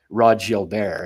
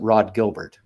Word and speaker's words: Gilbert: forward for the Rangers back in the day Rod Jil bear it wasn't wasn't Rod Gilbert right so I mean you go with uh